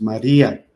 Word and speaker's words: María: Ahora sí, los ejemplos. María, la I y la A es una vocal débil y una vocal fuerte. Entonces es un diptongo roto, se rompió el diptongo porque la fuerza de la voz recayó en la I y por lo tanto debemos de acentuarla.